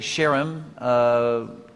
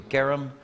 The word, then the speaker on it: Cherem: Bon, il a prononcé Sherem. Je l'ai toujours entendu Kerem. Donc je vais dire plutôt Kerem, qui n'est pas la bonne prononciation de toute manière, mais on n'est pas trop loin quand même.